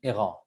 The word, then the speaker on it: Eureeca: The first two brands in our portfolio are Lebois Co and Eureeca, or the official French pronunciation Eureeca, but I'll stick to Eureeca.